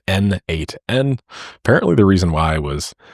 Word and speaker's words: n8n: It was written by the creator himself and he says that it means nodemation and it is pronounced as N8N.